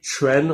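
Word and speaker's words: Quan: It's not really Chuan.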